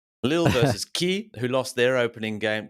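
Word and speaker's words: Kyiv: have since seen that everyone just calls them key so we'll just go with that Lil versus key who lost their opening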